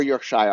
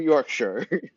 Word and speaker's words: Yorkshire: y so Yorkshire or Yorkshire I'm pretty sure it's Yorkshire like Yorkshire pudding right I shouldn't pronounce it like the Shire like it's the hobbit's place to live how how rude of